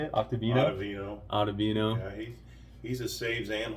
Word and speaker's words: Ottavino: Ian Anderson, Octavino, is that how you say it? Ottavino.